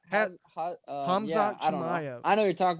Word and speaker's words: Hamzat Chimaev: But I had another question for you with this new kid on the block, Hazmat Chimaev. Is that how you say it? Chimaev? Oh yeah, Hamzat Chimaev.